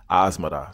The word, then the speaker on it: Asmara: those who are wondering that's how I was told to pronounce the city asada so don't write any